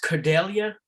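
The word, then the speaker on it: Kudelia: first name last name k-u-d-e okay and it's pronounced cordelia yes right all right professor we uh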